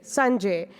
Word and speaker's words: Sanjay: is Sanjay yeah so it has s-u-n as a sun and J Sun J it's not Sanjay or Sanjay the other is anshul